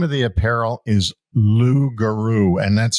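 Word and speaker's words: Loogaroo: And um the name of the apparel is Lugaru and that's spelled L O O O G A R O O.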